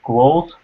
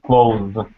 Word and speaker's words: close: pronunciation change uh so the first close uh the ver is closed so uh the ending the last uh the the last sound is s and so the in the first word the last sound is that silent s like and what about the next word how's that different uh the next clothes with more of a z sound exactly wonderful job that's